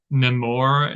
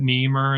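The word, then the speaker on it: Nemours: It was called like Nemore Estate. My country self was calling it Nemur Estate. It's spelled Nemour estate, and it was really nice and really beautiful.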